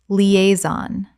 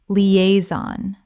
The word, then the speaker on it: liaison: Liaison. Correct pronunciation. Liaison. Three syllables with the stress on the second.